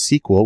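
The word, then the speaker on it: SQL: There is a skill usually pronounced sequel, which stands for structured query language, because that's where the data is.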